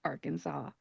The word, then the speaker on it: Arkansas: you either, but that is how they are pronounced, Kansas and Arkansas.